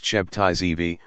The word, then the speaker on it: Sabbatai Zevi: Sabbatai Zevi, many different spellings, but pronounced Shebtai Zevi, was a Turkish Sephardic rabbi who declared himself the Jewish Messiah on June 18, 1666.